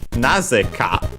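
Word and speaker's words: なぜ: As for big enemies, then we have Nazeka. Naze, we have seen it before, is the word accented on the first syllable.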